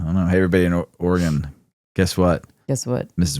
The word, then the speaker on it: Oregon: Hey, everybody in Oregon, guess what?